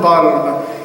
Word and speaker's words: Balm: Because my name is pronounced not the way they pronounced it, but it's Balm.